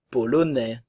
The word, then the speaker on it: polonais: néerlandaise néerlandaise néerlandais néerlandaise la Pologne polonais ok le son e polonaise le E ne se prononce pas le S termin la